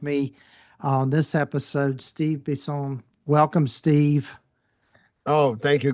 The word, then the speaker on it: Bisson: Well, my name is Steve Bisel and it's pronounced Bison because I'm from born and raised in Montreal, Quebec, Canada.